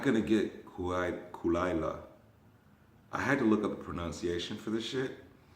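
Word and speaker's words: Caol Ila: I bought myself for my birthday a bottle of Kulaila, the scotch.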